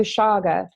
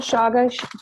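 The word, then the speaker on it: chaga: this May and so he introduced me to Shaga and have you had Shaga, Cheney?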